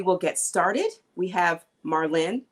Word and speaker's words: Marlyne: We have Marlene. I keep wanting to say Marlene because I have... Because the E is silent.